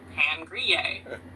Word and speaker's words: pain grillé: Toasted bread, they might also say pain grillé, pan grillé. Which one do you prefer? The most steal. For the rest of this conversation, call me, what do you say, pan grillé?